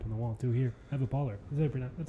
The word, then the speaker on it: Pohler: Eva Pohler. That's how you pronounce Polar, it. like polar bear. Polar.